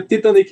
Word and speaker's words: Titanic: Como é que a gente pronuncia Titanic em inglês? Quem é que sabe aí? Alguém? Titanic. Titanic, né? Titanic, ok? Você puxar um pouquinho mais pro A, eu acho que mesmo os nativos britânicos, eles não puxam, não.